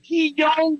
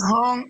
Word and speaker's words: Hung: Is it He Young? Like, how do you pronounce this shit? It's Hung.